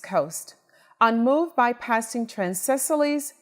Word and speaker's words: Cecily: your name correct okay I said Cecily okay because when you look at it it looks almost looks like a Sicily or something like that so Cecily is a correct pronunciation and you know I